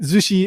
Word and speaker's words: zushi: Zushi is just a different pronunciation of sushi.